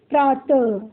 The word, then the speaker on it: प्रातः: इसका उच्चारण आधे ह की तरह होता है।